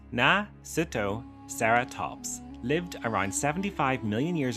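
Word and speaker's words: Nasutoceratops: Nasudoseratops pronounced Nasuttoeratops lived around 75 million years ago during the Le Cretaceous period in what is now North America.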